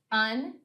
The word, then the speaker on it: unsafe: I think this is an example of a silent E that's going to tell the main vowel what sound it should make. That means the A will probably make the long A sound in that syllable.